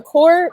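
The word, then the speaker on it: coeur: spelling of your podcast yes ma'am so the core means the heart in french it's spelled g-h-e the and then core c-o-e-u-r you'll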